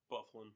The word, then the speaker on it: Byfuglien: can I have Dustin Byfuglien? Bufflin. I knew he wasn't going to fall. How do you get that pronunciation from all those letters?